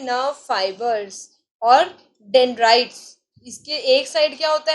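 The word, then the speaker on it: dendrite: What is this, you have to pronounce it like डेंड्राइट.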